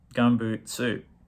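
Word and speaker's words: Gumboot Soup: you gum boot boot no Gumboot suit would be the correct way to say the title um this was apparently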